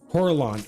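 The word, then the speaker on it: Corellon: uh fights um coralon is a good uh coralon is how it's pronounced Coraline not it's coralon coralon gotcha for a lot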